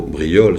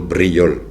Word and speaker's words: Briole: No me llamo Brillol, sino Brillol.